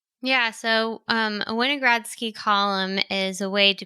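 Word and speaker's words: Winogradsky: going to pronounce properly is it weiner gradski oh yeah winogradski yeah can you explain to people what that is the wine of grass keep column i think it's called yeah so a winogradski column is a way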